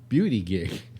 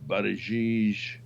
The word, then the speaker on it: Buttigieg: And I think Beauty Gig. I love the way. How is that name pronounced? I think it's Buttigieg. I have no idea.